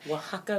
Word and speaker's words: Oaxaca: Oaxaca, Mexico. It's really interesting because the way that it's spelled, it does not sound like that.